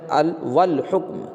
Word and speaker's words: والحکم: قمری میں سے ہے، تو الف یہاں بھی تلفظ میں نہیں آ رہا ہے، تو بالفرض۔ یہاں پر الحکم نہیں، یہاں پر کیا بولیں، والحکم، کیا ہے، والحکم بولے